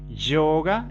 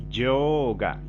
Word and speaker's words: yoga: Yoga niyama o yama niyama, los principios éticos. Y la O en sánscrito, así como la E, siempre son largas, son sonidos largos. Entonces, yoga, yoga, yoga.